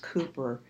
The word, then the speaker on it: Cowper: Then we have this incredible poem by William Cowper, C-O-W-P-E-R is pronounced Cooper.